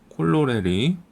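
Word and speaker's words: corollary: 영어로는 이런 식으로 씁니다 콜로레리 콜롤이 뭐 이런 식으로 발음을 하면 되겠죠 그래서 1번 다른 정리가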